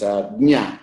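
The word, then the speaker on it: ज्ञ: So we should be a little careful about this jnya. Jnya is actually ja plus nya.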